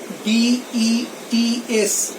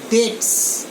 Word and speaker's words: debts: এর উচ্চারণটা লক্ষ্য করো, এই যে মাঝখানে বিটা আছে, the pronunciation of B, the letter B remains silent. আমরা এটা প্রনাউন্স করে এইভাবে DETS, ডেটস।